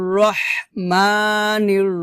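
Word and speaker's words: الرحيم: এভাবে আবার বলেন আর রাহমানির রাহিম মানির রহিম এটা কিন্তু রহিম বলা যাবে না রহিম হবে না হবে রহিম হবে হিম এটা হলকের মাঝখান থেকে চাপ দিয়ে বের করতে হবে হাটাকে আবার বলি একসাথে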